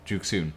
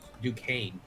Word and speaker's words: Duquesne: Duke Soon. That's pronounced Duquesne, actually. Oh, Duke. Well, there's an S in there. It's French.